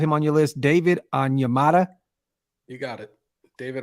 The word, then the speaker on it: Onyemata: David Onyemata? You got it. David Onyemata.